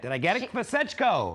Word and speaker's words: Kvasechko: Kvasechko. Yes. 3 syllables.